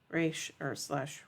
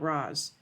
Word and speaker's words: Ra's al Ghul: When Ra's al Ghul asks Oliver to take his place, he uses the correct pronunciation of his first name, Raish or whatever, not Roz.